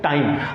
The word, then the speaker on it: time: Now see, tim, tim, and here time. That is not plane, that is not ripe, that is not time, because here in all these three word meanings e is silent.